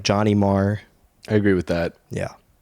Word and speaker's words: Maher: it's a common question many people think mayor because of John but it is mAh Bill Mah that is his his